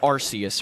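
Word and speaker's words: Arceus: But then again, I think Archus sounds better, but apparently it's Arus or whatever.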